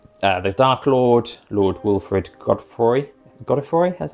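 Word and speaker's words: Godefroy: And then at that point, I might have it that the Dark Lord, Lord Wilfred Godfroy, that's how you pronounce it, he closes the Mist Borders, and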